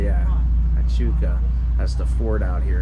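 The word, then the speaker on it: Huachuca: Oh, there's how do you pronounce that? Hachuca, yeah. Hachuca.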